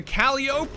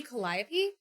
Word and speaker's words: Calliope: for an american tank the caliop which i hope i'm pronouncing correctly is the obvious favorite because i mean wouldn't it be calliope isn't that how you say that i fear not